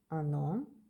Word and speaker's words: оно: The O became a because this is not stressed, this is stressed, ono.